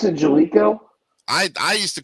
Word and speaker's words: Jaleco: I thought it was Jailco. He pronounced it Jalico, I used to call it Jailco.